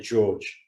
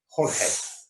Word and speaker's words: Jorge: Although, did you catch Stephen Thompson pronouncing it George? I did. George Masvidal. Jorge. I'm going to fire him up. I'll piss me off. It's not even spelt George.